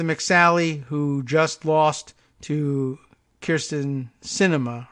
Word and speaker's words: Kirsten: It's Kirsten, right? I thought it was Kristen for the longest time. And then on further examination, saw that the Y came before the R.